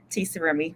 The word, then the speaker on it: T'Sarumi: So and I want to make sure I'm pronouncing it. It's T'Sarumi. Is that correct? T'Sarumi, but you can just do Dr.